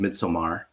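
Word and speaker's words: Midsommar: didn't by the way apparently it's pronounced midsomar um which I've been told many times now but midsomar midsomar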